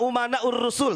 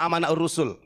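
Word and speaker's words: أمناء الرسل: bin smit Al ulama umanaur rusul Tapi bacanya Al ulama amanaur rusul saya katakan salah kenapa Karena di sini umana jmaah taksir ya para ulama itu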